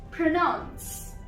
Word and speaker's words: pronounce: First of all, pronounce.